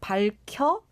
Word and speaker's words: 밝혀: So it's more like 밝혀. 밝혀. Yeah, if you think it's difficult, then just think of it as just having the 리을 받침 and then pronounce the 혀 as 켜. 켜. Because 기역 and here is combined and it sounds like 켜.